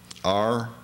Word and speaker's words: Rindler: R-I-N-D-L-E-R, right. Rindler. We spell all of our names here because we don't want people to mispronounce them or misspell them when they start writing them phonetically. As I understand it, in German, it's Rindeli, L-E. L-E, mm-hmm. But this is Rindler.